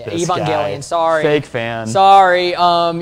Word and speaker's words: Evangelion: on this show but um Neon Genesis a Evangeline Evangelion Evan yeah you're right that's totally how you say it Evangelion sorry fake fan sorry um you know but